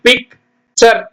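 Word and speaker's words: picture: டர்ன்னு படிக்கக்கூடாது டுன்னு படிக்கக்கூடாது சர் பாருங்க பிஐ சி பிக் சர் பிக்சர் எல் ஐ டி இ லிர literature literature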